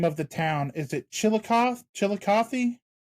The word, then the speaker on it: Chillicothe: another thing they're gonna want to stay up to date on, coming up, and I am gonna butcher the name of the town. Is it Chillicothe, Chillicothe, Ohio?